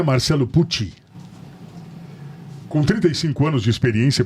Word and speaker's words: Pucci: A quando enxerga do outro lado, Marcelo Pussi, que aqui está, essa pronúncia correta? Pussi é com som de T. Puti. Italiano.